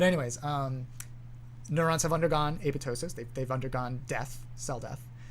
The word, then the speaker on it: apoptosis: have heard of apoptosis not supposed to pronounce that p it's apoptosis it's a greek word but anyways um neurons have undergone apoptosis they've undergone death cell